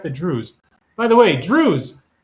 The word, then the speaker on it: Druze: By the way, Druze, D-R-U-Z-E, not Jews, but it rhymes with Jews, are big trouble.